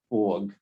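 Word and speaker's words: Forgue: tells you for f-o-r-g the ue is silent so when i first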